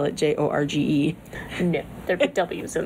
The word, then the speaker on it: Jorge: I it's the same Jorge is just Spanish for George yes I know but